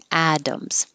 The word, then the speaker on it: atoms: And atoms, the T sounds like a D. Atoms.